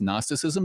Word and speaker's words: gnosticism: you a small correction it's not gnosticism it's just gnosticism the g is silent but as somebody famous